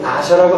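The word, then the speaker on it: נסה: 히브리 말로 여기서 시험이라는 단어는 NACAH라고 쓰여지는데 발음은 나샤라고 하는 것입니다. 하나님께서 우리를 나샤하신다고 하실 때는 그 목적이 분명히 선한 것인데 그것은 무엇입니까?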